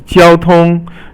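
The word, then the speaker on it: 交通: And then the next one is 交通. 交通 is all first tone, and it means traffic or communications.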